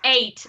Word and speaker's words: eight: other thing uh it's eight you don't pronounce the GH uh you just pronounce the T um and two is